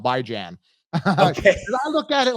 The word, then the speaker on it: Bijan: It's actually, he pronounced it Bijan. That's how you pronounce it. But I just go with how it's spelled, Bijan.